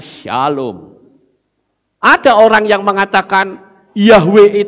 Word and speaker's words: Shalom: Shalom itu tulisannya SLWM. Ya. SLWM, itu bacanya Shalom.